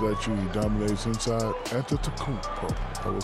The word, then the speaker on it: Antetokounmpo: And would you please, for the audience, say his last name? Anyway. Say the last name. Antetokounmpo. Close. Here you go again. Antetokounmpo. Antetokounmpo. But even it's Antetokounmpo. It's like a like a food, like a beef.